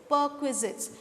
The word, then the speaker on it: perquisites: I'll repeat the pronunciation once again, students. It is perquisites.